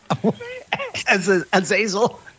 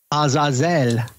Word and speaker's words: Azazel: If I select the word and I go to pronounce, it says Azazel. Azazel. Yeah, so I would think that the emphasis would be on El, I would think.